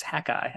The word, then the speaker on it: Hakai: around the Mississippi Delta the article ran in hakai magazine and I hope I'm saying that name right welcome to the podcast boys thank you it's great to be here it is actually pronounced hackai which is I had been pronouncing it long